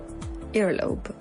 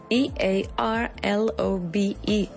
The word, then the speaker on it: earlobe: earlobe earlobe e a r l o b e earlobe se pronuncia como si fuera como si hubiera una u por ahí, earlobe, pero no hay